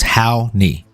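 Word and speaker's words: Raoni: next man and just just so you know the pronunciation I put it up on the screen for you it's how knee how many thank you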